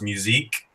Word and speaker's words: Musick: like Norwegian or tickets I think it was French is actually pronounced musique because the people who